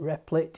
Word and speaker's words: Replit: have an image of riplet we call it replit it's r e p l dot i t pronounce riplet it's a website that provides an